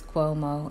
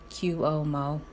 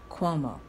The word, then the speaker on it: Cuomo: and by the way it is Cuomo and not Q Omo I have to add laughter to that because them my friends down south aren't sure how to pronounce Cuomo and then they see it and I think you save the sea and the you first and then the rest but it's Cuomo they give it the way you pronounce the word Queen quo Cuomo anyway Governor Cuomo was kolnas